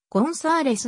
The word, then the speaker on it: González: れることがあるスペイン語では z は無税音で発音され z の音節にアクセントがあるためコンサーレスのように発音されるが平穏表記の